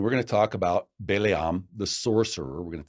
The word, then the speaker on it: Balaam: It's not in English, it's spelled Balaam, and most people pronounce it Balaam, but in Hebrew it's Balaam.